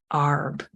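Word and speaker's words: Għarb: most westerly Village of ARB and I hope my pronunciations are right I believe the GH is silent so the way I've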